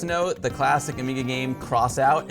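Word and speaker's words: X-Out: the classic Amiga game cross out it looks like X out it's actually pronounced crossout it's being remade for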